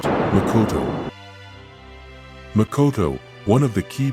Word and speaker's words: makoto: Pronounced, Makoto.